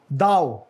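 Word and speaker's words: thou: दाओ, नॉट दो. Holier then दाउ, यानी मैं आपसे ज्यादा मुकद्दस हूँ, अपने आप को सुपीरियर समझने का जो रवैया है.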